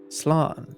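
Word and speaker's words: slán: or safe journey home one dialect will pronounce it as Sloan Sloan okay learning so much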